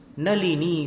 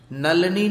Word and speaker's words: नलिनी: मारभ्यते तनुधियापि तव प्रभावात्, चेतो हरिष्यति सताम नलिनी दलेषु। नलनी नहीं बोलना, नल बोलने की बहुत आदत होती है लोगों को, यहां पर नलिनी है।